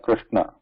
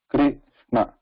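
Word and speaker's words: कृष्ण: So, and for example, even if you take the most common one, Krishna, we have Krishna, kru here, kru. So this should not be pronounced as Krishna. Kri is different, kru is different.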